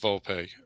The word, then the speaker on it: Volpe: Volpe.